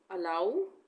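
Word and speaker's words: allow: उसी तरह से नाउ और अलाउ, सब में हम आ ऊ का उच्चारण करेंगे।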